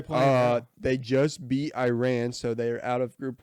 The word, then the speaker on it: Iran: players he was like you're pronouncing it wrong it's uh it's not that Iran it's Iran I um I saw